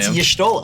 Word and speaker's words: Y'shtola: And I don't know how you pronounce that, Gavin or That's Crim. Y'shtola.